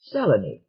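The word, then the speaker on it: Selene: around recognition took almost no time at all seleni am i right fellaini right correctly pronounced are you enjoying yourself the earthman said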